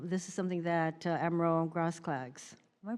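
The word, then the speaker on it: Grosklags: Um, Admiral Miller and um this is something that Admiral Grass Clags, am I pronouncing your name correctly? Close enough. Sorry. Gross clogs. Gross.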